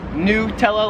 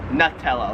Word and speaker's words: Nutella: Nutella Americans like me I would pronounce this Nutella like it's new Nutella here in Australia they pronounce it Nutella like a nut yeah Nutella Nutella number